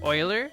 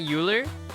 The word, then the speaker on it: Euler: a drop down menu It's pronounced Oiler not uler fais Euler's day off